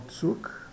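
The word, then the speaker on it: Zug: vamos voltar lá ao tsuk eh significa tuuk ter significa trem no Brasil e Comboio em Portugal pronuncia-se tuuk tuuk tá ou seja de um modo geral o z é pronunciado como TS né Eh d t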